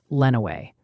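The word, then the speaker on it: Lenawee: letting us know that Lenway County is actually pronounced Lenway. Also, folks in Windsor, Ontario want to know if you'll track the storm as it crosses the border. Lenway.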